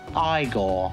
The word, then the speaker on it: Igor: as he prefers to be called now it's pronounced igor and marty feldman who else is going to